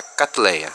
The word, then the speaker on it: Cattleya: Cleia ou melhor dizendo essa é a pronúncia certa katleia com T mudo o que que predomina